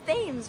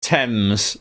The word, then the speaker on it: Thames: It's Thames, right? Tems.